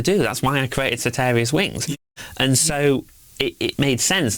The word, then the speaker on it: Soteria's Wings: Yes, soteria'swings.